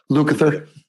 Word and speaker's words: Lukather: Yeah, but I think a lot of the time, even today, somebody like Luke Lather, I can never say his name right. Lukather.